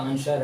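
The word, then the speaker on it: answer: आडी सोड हैय इसका माने तलवार है यह आंसर है ए ए एस डब् आंसर है य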